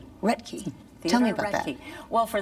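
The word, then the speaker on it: Roethke: Reky. Reky.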